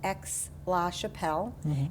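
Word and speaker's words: Aix-la-Chapelle: Uh, it's pronounced X Lash Chappelle and Ex Chappelle um in the 17 and 1800s was an important uh diplomatic city.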